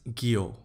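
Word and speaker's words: guyot: minor ocean relief features gyo now this term is pronounced as Gyo Gyo is an undersea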